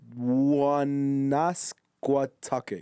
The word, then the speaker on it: Woonasquatucket: I cannot pronounce that river, bro. Woonasquatucket? Okay, this is worded out. Woonasquatucket? It's Woonasquatucket.